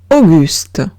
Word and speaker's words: Auguste: Siguiente palabra es Auguste. Auguste. Veo una A y una U, se pronuncia O.